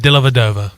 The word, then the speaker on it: Dellavedova: You keep putting an N in there. There's no N. Dellavedova.